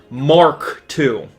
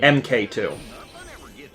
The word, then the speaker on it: Mk2: what it was called the MK stands for Mark like uh like when you have a a plane or something like Mar K right it say MK it does say MK but I was pronouncing an MK and it's actually Mark Mark 2 when did you realize